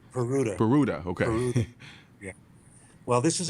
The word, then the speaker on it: Peruta: can't remember if I'm saying it correctly Pera peruta okay yeah well this is a case that